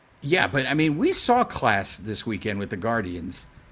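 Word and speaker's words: Clase: I think it's Class is how you say his last name, and Liam Hendricks are your top 6/5.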